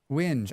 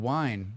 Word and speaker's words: whinge: Whinge. I thought it said wine.